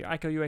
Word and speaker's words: Iko Uwais: Iko Uwais is how you pronounce his name.